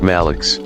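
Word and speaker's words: Maluch: Malik the small one small child pronounced malx the nickname became so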